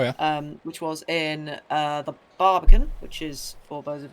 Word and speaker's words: Barbican: Be a Barbican, not a Barbicant.